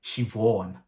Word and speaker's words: Siobhan: to pronounce them but apparently that is shivon you know i think